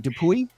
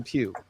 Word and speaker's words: DePuy: Well, the Y the Y screams at me. Notice me. Say something about me. And you say no. Don't say the Y. say the pew.